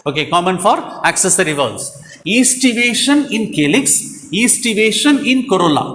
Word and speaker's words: aestivation: Okay, aestivation. A-E-S-T-I. But we have to pronounce from E. Aestivation. A is a silent.